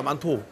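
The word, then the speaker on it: 馒头: 만두를 혹시 헷갈리실까 봐 설명을 드리는데 만두를 그대로 발음하면 만토입니다. 만토.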